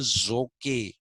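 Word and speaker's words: Zoque: a civilization uh at one time called the zokay civilization z-o-q-u-e the zokay people uh had built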